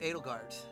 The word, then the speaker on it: Edelgard: It's pronounced Edelgard.